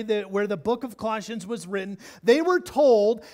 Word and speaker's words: Colossians: Bible kids called Colossians can you say that word Colossians say it louder Colossians say it like you say Miranda alright good Colossians sorry